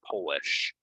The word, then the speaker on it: Polish: February so it's a relating to Poland it's Polish Polish is what you you put on your names okay we'll focus on